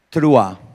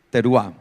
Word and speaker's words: Teruah: y dice allí el pueblo que conoce tu trua o trua hay algunas personas que le den más fácil decir teruá entonces no hay problema tranquilo por eso a